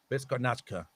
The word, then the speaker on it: Beskonačna: Beskonačna like a B. Beskonačna. But the second to the last C is actually pronounced T. It has an accent over it. So Besko, Beskonačna, and then borba, Borba. Beskonačna.